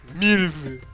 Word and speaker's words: Milova: Milova. Milova. No, it's not Milva.